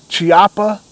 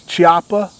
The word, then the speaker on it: Chiappa: doors in 2017 and I believe it's pronounced this Choppa chiapa I think it's chiapa Firearms acquired the trademark